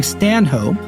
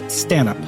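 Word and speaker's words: Stanhope: pronounces it curent and who I've been calling stanh hope is more properly pronounced stup we're still not sure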